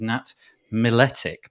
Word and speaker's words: Nat Miletic: nat i do apologize i'm gonna say that your surname is nat miletic but i don't know because we didn't talk in advance if that's how you pronounce it yeah yeah definitely you did great oh first time nice